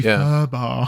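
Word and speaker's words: FUBAR: So it should be FUHBAR. FUHBAR. It should be FUHBAR, and it's a shame because that's an easy one.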